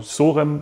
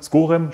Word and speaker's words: Schorem: den Jungs aus Rotterdam von sorem skorem schorem ich weiß nicht genau ich glaub gorem spricht man richtig aus Barbier somit der bekannteste